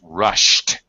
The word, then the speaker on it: rushed: And also past tense rushed. Ah, my gosh. Rushed. Climbed. Climbed. Rushed. That's it. Rushed. SH endings, we make a T sound for the past tense.